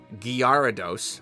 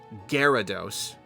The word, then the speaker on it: Gyarados: Um, Gyarados, Guarados. I never understood why they pronounced it Gyarados.